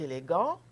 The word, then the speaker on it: élégant: on va voir plus d'autres exemples henri est élégant ok mais patricia et élégante et à ce moment là on prononce la consonne final ce qu'en général on